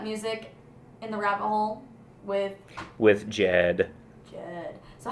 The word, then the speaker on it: JED: And it's actually JED is the correct pronunciation, and it means a very serious person, which is incredibly ironic because that's not really who I am.